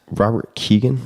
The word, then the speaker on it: Robert Kegan: love to ask you, maybe in closing, about Robert Kegan. Am I getting the pronunciation of that name correct?